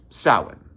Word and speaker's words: Samhain: and this most recent sin. Sin spelled like Sam Hayne is an ancient pagan holiday.